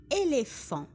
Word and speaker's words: éléphant: Les éléphants بما أنه جمع أي هناك le S بالنسبة ل éléphant ونلاحظ le PH في الفرنسية ينطق كالF كيف éléphant.